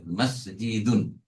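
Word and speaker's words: مسجد: মাসজিদুন হ্যাঁ এই মাসজিদুন তাহলে মনে হল মসজিদ বাংলায় আসল উচ্চারণ হচ্ছে মাসজিদুন মাসজিদ মাহাজা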